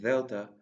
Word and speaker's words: delta: The sound of delta is similar to the sound in then.